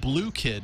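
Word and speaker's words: Bloo Kid: It's called Blue Kid, and that's spelled B-L-O-O and then Kid.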